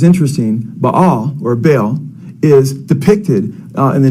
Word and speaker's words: Baal: says and then uh b or he says b b l or Baal he spells it b a l how the Bible spells b or Baal it's pronounced in Hebrew uh which is the Canaanite